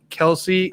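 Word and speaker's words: Kelce: about tanner he coached jason kelsey too old jason kels i should say so obviously but jason admit like he keeps saying jason kelsey so who would have thought twice about it but yeah travis is the one who who came out today on the show and was like yeah i just roll with the punches it's actually kels but do you think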